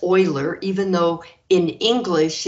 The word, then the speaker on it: Euler: to meet something else euler's function this is pronounced euler even though in english it's pronounced euler but euler is euler because uh this person